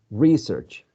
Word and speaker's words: research: research okay yeah well some people have placed the stress on the first syllable to use it as a noun research and the same people place the stress on the second syllable research to use it as a verb some people don't care some people say just research for noun and for a verb all right so you